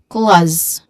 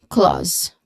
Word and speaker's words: clause: Okay clause. Okay. So right at the end if you've noticed there's a letter Z sound here and that sounds like a buzzing sound and letter Z is a voiced sound.